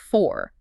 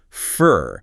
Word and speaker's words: for: F o u r dictionary says for. The jaw drops, the lips relax. It becomes fur, not this is for you, but this is for you.